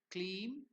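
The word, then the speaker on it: kleem: is given there Mantra three clean so clean pronounced as cleam is the softer watery or more feminine aspect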